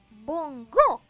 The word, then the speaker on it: bongó: último tengo la palabra Bongo que lleva acento en la o por eso es aguda y se diferencia de Bongo pues Bongo es un